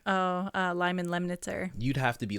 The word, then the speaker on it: Lemnitzer: me on his name because I can't can't pronounce his name Lyman mellister uh uh Lyman lemnitzer you'd have to be like that oh true